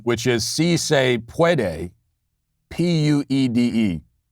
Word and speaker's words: puede: No, she was going for yes, we can, which is si se puede, Puede. I think, in fact, the correct pronunciation is puede, I believe.